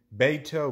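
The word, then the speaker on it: Bateau: I bought it from a company called Beato Boats. I think I'm pronouncing that right. It's B-A-T-E-A-U, Boats.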